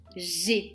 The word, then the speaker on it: j'ai: J'ai comme si tu souriais.